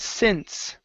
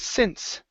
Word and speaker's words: since: go to the word since okay um instead of saying sin okay that e is silent the word is since since mhm so so